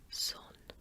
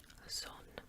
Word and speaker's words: Sohn: Mutter, Vater, Tochter, Sohn, Sohn. And I'm trying to make that C sound at the beginning. Yeah, doesn't really sound like an S.